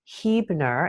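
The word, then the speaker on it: Huebner: Her name is Don Hebner and that's spelled Hueb Ner.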